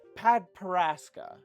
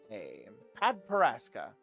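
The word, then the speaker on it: padparadscha: These are what we call padparaska. Do you guys know how to spell padparaska? I can spell it right here for you. Here you go. P-A-D-P-A-R-A-D-S-C-H-A. Padparaska.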